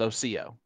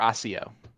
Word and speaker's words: Osseo: how you pronounce it it's Oco or Osseo even though it does not look like that but that was given